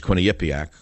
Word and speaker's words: Quinnipiac: plummeting even favorable polls favorable polls such as Quinny Yak I'm one of the few people in the world who can pronounce it why they still call it Quinnipiac